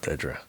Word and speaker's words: Dedra: maybe Dra Dra um well it's spelled D E E you know whatever it's just Dra it's called Dedra but um anyway um